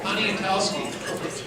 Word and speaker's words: Poniatowski: It's Mike Poniatowski, and he gave me a real simple way to pronounce his last name. Just think Pontiac and then Towski at the end.